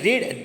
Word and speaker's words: read: Examples R सी हैज़ रीड this book. Okay, जो रीड है वो तीनों फॉर्म में सेम रहता है, लेकिन उसका प्रोनाउंसिएशन रीड रेड होता है. So here C हैज़ रेड this book.